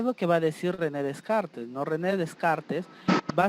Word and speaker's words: René Descartes: primero que vamos a encontrar aquí está su pronunciación en rené descartes que es lo que dice rené descartes es